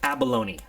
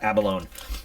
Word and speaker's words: abalone: It's Abalone, not Abalone.